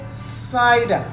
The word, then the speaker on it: cider: you don't say kaida you say cider it's soft you say cider now it is followed